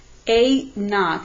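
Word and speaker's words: A₀: A naught, that's how you would pronounce it. A, and it's like this little zero on the bottom.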